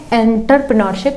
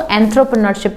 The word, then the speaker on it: entrepreneurship: ठीक है, वैसे तो सब इसको प्रोनाउंस करते हैं एंटरप्रेन्योरशिप, लेकिन ये एंटरप्रेन्योरशिप नहीं है, इसको एंथ्रोप्रेन्योरशिप कहा जाता है।